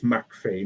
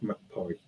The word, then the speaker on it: McPhie: Well, my family are originally from Ayrshire, in Scotland, so that's why it's McPhie, not McPhie.